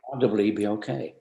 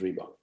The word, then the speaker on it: Reebok: there to get to REEBOK. Reebok. What's that? Reebok. Oh, it's a small South African gazelle. Wow. Why don't we put that top of the list? Reebok. 2 syllables. Sounds good.